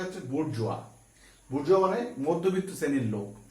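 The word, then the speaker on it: bourgeois: এরপরে খুব important word দেখো বুর্জোয়া।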